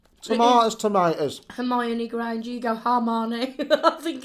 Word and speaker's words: Hermione: I love the way you say her name. Hermione? Yeah. I used to think when I was reading the books that it's Hermione. Yeah, but you go, Hermione. I always say Hermione.